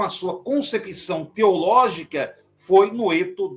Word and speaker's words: Noeto: sua concepção teológica foi Noeto de Esmirna, ou Noetos, né, como também é pronunciado.